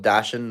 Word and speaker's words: dachshund: I know it's spelled Dachshund, but Dachshund.